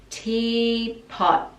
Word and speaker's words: teapot: little teapot and pot the last t we just pause the tongue at the top teapot little teapot I'm a